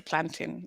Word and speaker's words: plantain: I mean, you can call it what you like, but it is a plantain like mountain.